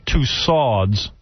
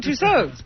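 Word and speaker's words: Tussauds: Also, I received a letter from Madame Tusads. I always thought it was Madame Touso. It is. Oh, but it's Madame Touso.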